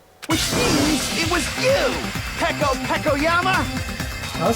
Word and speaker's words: Peko Pekoyama: Which means it was you, Peko Pekoyama! That's how you pronounce it.